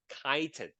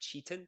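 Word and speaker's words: chitin: and the it's another kind of carbohydrates called kiten that's how you pronounce it not Chetan but kiten kiten uh contains a like a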